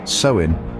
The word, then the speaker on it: Samhain: a bone deep reality samhan pronounced sein is a festival marking